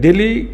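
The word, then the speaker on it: DALY: एक हम लोग का अह जो साइकेट्री में एक रेटिंग स्केल होता है जिसको डेली रेटिंग स्केल बोलते हैं। डेली का स्पेलिंग है डी ए एल वाई उसको हम बोलते हैं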